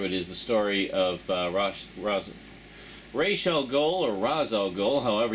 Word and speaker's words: Ra's al Ghul: want to pronounce her, Ra's al Ghul. Anyway, I've always gone with the Batman animated series pronunciation, so I always call him Ra's al Ghul.